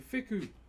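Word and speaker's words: wheku: So, this is a fiku. W H E K U is how you spell it in my native language.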